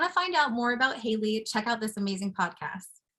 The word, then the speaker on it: Haleigh: um my name is Haley my first name is spelled with a G so I don't blame anyone who says it wrong the first time um I am an